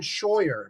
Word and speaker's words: Scheuer: My name is Scheuer. My last name rhymes with lawyer.